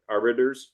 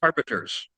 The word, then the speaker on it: arbiters: Arbittors. Arbiters.